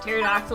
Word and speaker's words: pterodactyl: Do you want to be So a T-Rex, pterodactyl, or brontosaurus? T-Rex? No doubt about it. Pterodactyl. I don't know that the P is silent yet.